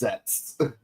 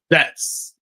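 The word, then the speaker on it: Zeztz: Yeah, it's pronounced Zets. Zets.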